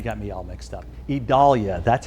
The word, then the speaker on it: Idalia: talking all about tropical storm idalia it's not idalia it is I now you got me all mixed up idolia that's how it's actually pronounced believe it or